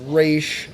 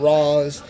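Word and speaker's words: Ra's: Batman Beyond series that it is pronounced race not rose and that was coming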